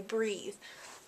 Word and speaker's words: breathe: an e is pronounced breathe and that's kind of how you can commit it to memory if it has an e on the end then you say breathe um and then it's